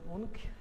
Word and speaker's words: Munch: sztuki w Europie, jest Edvard Munch, czy Munch, jak to wymawiają Norwedzy.